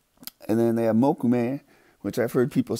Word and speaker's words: mokume: Ione assume you say and then they have mokume which I've heard people say mokume Sam alone no it's mokume and then I know I'm a stickler for